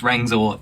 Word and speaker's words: Rangzor: My friend who just messaged me and told me that he's Rangzor, that's how you pronounce it.